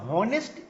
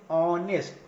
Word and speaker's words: honest: सो यहाँ पर मतलब इसको हम लोग हॉनेस्ट नहीं पढ़ते हैं या हावर नहीं पढ़ते, इसको हम लोग पढ़ते हैं ऑनेस्ट, तो हम लोग ओ